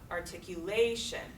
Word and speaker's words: articulation: where's that primary punch articulation articulation articulation not until that fourth syllable do we hear that primary punch that primary stress all the other syllables are more weakly stress compared to that articulation to left transcription